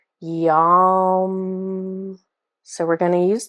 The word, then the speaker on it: yam: different so this word it looks like the word yam y a m but again it it's pronounced a little bit more like yum so we're going to